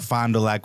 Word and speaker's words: Fond du Lac: Fond du Lac, Wisconsin. Fond du Lac? Fond du Lac. Fondue. Some people pronounce it Fond du Lac.